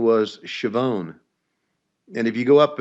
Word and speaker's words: Schiavone: So the correct pronunciation back there was Schiavone. Schiavone, right? You know what Schiavone rhymes with, right? If you're Italian. No. Maybe that's why they changed it, Tony. Schiavone rhymes with Gavone.